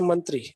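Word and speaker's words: मंत्री: talk about Hindi language, in Hindi it has two syllables only and there is no stress or word stress upon any one of the syllables. We simply say mantri.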